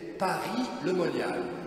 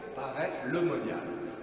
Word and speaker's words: Paray-le-Monial: première fois ce nom, j'ai cru que c'était Paris-le-Monial. Vous voyez une grande ville avec des moines à toutes les fenêtres. Vous voyez comme je suis très naïf. Non, ça s'écrit P-A-R-A-Y, Paray-le-Monial.